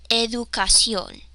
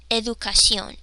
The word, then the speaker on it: educación: But in Spanish, remember, we're sticking to these 5 tense vowels, so I need to pronounce this letter as U. U. Educación. Educación. Educación.